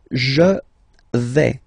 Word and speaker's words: je vais: The first form is je vais. Okay, so remember, final S not pronounced here.